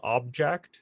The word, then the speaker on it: OBJKT: There's one called Object. It's spelt a bit strange. OBJKT, something like that.